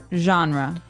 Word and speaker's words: genre: should be pronounced differently we say genre genre or genre this kind of sounds French is it French I think it comes from French uh it's a g word so genre it's a soft soft sound and what's a genre